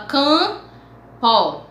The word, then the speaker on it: campo: pronúncia é um nasal vamos lá campo você não fala o mp você fala campo vem só então é